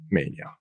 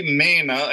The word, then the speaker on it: Maina: maniac himself mr mania welcome back to the big water podcast mania is that pr is that proper because i can't spell it you know it's actually maina and that's why you